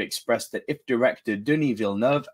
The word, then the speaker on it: Villeneuve: During an interview with CNBC, legendary CEO Josh Grode expressed that if director Denis Villeneuve, and that's how you pronounce his name, my American friends, not Villeneuve, Villeneuve, and his team write